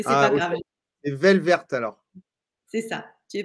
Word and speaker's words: Welwert: Mon nom, c'est Velvert, en fait. Les W se prononcent V. Mais c'est pas ok. grave. C'est Velvert alors.